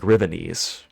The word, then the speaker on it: Rivenese: I always pronounce Rivenessi like it rhymes with Chinese. Oh, like Rivenese.